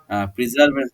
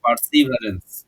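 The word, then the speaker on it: perseverance: কেশবা হ্যাজ পার্সিভারেন্স, উচ্চারণটা হচ্ছে প্রিজার্ভেন্স নাই, পার্সিভারেন্স।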